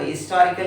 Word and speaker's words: historical: But at present now, in many countries, including in India also, we pronounce this sound ha, historical. So we have to use the vowel article a but not an. A historical place, not an historical place.